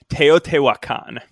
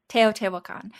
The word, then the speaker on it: Teotihuacan: I pronounce it Teotihuacan. Teotihuacan.